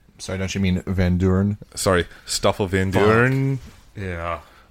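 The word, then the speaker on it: Vandoorne: a pretty good job of like humanizing Stoffel vandorn a bit more because like so i don't you mean van Duren sorry stuff levin burn yeah his name is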